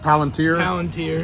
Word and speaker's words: Palantir: Palantir.